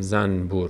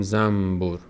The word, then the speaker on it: زنبور: مثلاً در فارسی هم اینو بارها ذکر کردم کلمه زنبور رو نمیگیم زنبور میگیم زنبور. نون رو که قبل از با قرار گرفته ما اون رو میم تلفظ می‌کنیم.